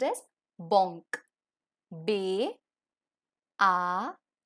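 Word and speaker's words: banque: the next is Bank in French bank is pronounced as Bonk ba ah n Q ew uh Bonk and the last one for eyes so eyes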